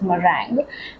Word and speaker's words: meringue: um midtone Brown then we have a pink merang it's spelled as m e r i n gu u e but it's pronounced as merang and then we have have the shade cherry